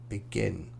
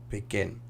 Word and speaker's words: begin: So most two-syllable verbs have the stress on the last syllable. Present, export, decide, begin. Present, export, decide, begin.